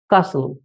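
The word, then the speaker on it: castle: এখানে টি সাইলেন্ট সঠিক উচ্চারণটি হল কাসু।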